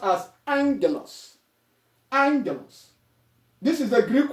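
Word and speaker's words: ἄγγελος: So when two gammas come together, it is pronounced as ang, as in N and G.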